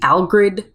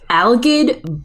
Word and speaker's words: Algid: Anyway, Howard and Spot get to the frozen castle where they meet Algrid. Sorry, there's no R in there.